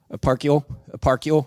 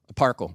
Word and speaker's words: eparchial: Eparchial, thank you. Eparchial, thank you. I always put the accent on the wrong syllable.